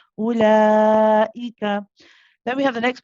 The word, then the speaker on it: أولئك: We do not read this waw. Okay, this is there for another reason. It's not there to be pronounced. So the hamza is actually just 1 count. We say ula, not ula. Okay, ulaika.